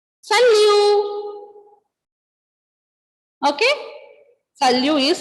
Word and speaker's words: salut: Ending letter T will be silent when you pronounce it.